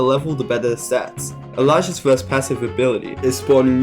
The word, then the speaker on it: Illager: Illager, pronounced Elijah, is the first, cheapest, and best performing captain.